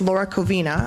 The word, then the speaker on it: Laura Covina: And sorry, I have to say, I said Laura's name wrong. It's Laura Covina. My apologies.